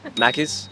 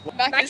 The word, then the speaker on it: Macca's: Macca's. Macca's. It's Macca's?